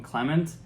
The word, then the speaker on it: Clément: content it's really appreciated he actually pronounces his name Clement I didn't know because of the accents on the e which makes it an A in French finally if there's anything